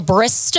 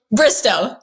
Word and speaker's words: Bristowe: Um, Caitlyn Bristo, am I saying your last name right?